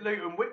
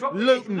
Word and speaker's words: Luton: So we pronounce it Luton. We drop the T. Yes, Luton.